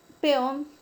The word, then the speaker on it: peón: La palabra peón, la mayor fuerza de voz recae sobre la última sílaba. Termina en una consonante N y según las reglas de tildación es una palabra aguda. Y como termina en N, es una palabra aguda con tilde.